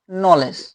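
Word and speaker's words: knowledge: কন ভি কনভি এনই কনভিনি কনভিনেন্স কি কনভিনেন্স নলেজ এইটা অনেক ভুল করি ঠিক আছে আমরা মনে করি যে এইযে উচ্চারণ করি কিন্তু উচ্চারণ এখানে উজ্য থাকবে এটা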